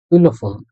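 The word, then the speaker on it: Xylophon: নাই যেটা পাইছি এটা এটার উচ্চারণ একটু ব্যতিক্রম তাই আপনারা জাস্ট শুনেন হলফন আমি একটু ভেঙ্গে বলিসিলন এল ও পে আ ও এন একত্রে ইলোফোন এটা আর কি একটা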